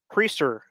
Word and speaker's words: Priester: uh is it Quinn price is how you pronounce his name preacher actually yep yep he's one of their top